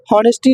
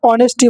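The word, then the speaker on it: honesty: होनेस्टी नहीं होता है। एच साइलेंट होता है। ऑनेस्टी बोलते हैं।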